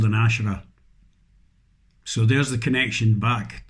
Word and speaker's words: Asherah: Asherah. And that's how you pronounce it.